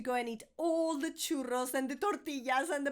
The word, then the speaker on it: churros: Now, when I say churro, I know that the double R is super tricky to pronounce. Give it a go. Chu, like you know the train. And then churros. If you say churros because you can't roll your R, it's fine.